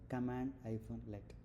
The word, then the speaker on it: cmdlet: So, cmdlet is basically pronounced as uh cmdlet as pronounced as command-let.